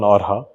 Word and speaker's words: Orxa: And you can pronounce it in a certain number of ways depending on which language. So we played around with a bit and we kind of settled on Orxa.